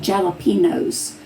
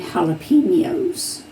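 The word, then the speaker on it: jalapeños: to get started and they would say jalapenos but it's actually jalapenos there's that little Mark over the end so that's why I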